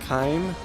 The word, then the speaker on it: Kaim: I think they pronounce it Kaim, the voice actors do.